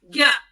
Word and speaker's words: ज्ञ: ज्ञ लोग अक्सर सोचते हैं ग और य का बना हुआ है ना? उच्चारण से देखिए ज्ञ लगता है ग और य से, लेकिन नहीं, ज्ञ बना है ज और इ से।